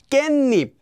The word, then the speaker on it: 깻잎: 깻잎 is actually pronounced as 깻잎.